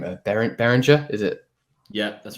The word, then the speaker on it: Behringer: Like I never know how to pronounce the name. Behringer, is it?